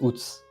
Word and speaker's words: Wootz: I mean, it pronounces Uts.